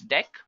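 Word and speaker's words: deque: So let's take a look at the next one that we have, which is actually dec, guys. It is written as DQ, but we can pronounce it as dec.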